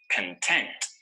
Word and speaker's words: content: is continuous notice that the stress is on the second syllable content content this adjective refers